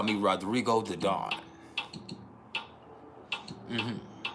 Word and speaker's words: Rodrigo: title they call me Rodrigo the dawn mhm but you got to roll your RS or the vibration ain't